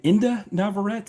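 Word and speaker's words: Inde Navarrette: was played by I think is her name Inda Navarrete?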